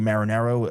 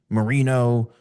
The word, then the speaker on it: Marinaro: yeah, my name's and thank you for pronouncing my last name properly, Marinaro, a very, very Italian name.